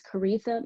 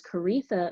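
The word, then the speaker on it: Koritha: again my name is karitha it rhymes with aretha though it's not spelled that way and you can of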